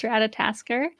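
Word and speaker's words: Ratatoskr: It's Ratatasker.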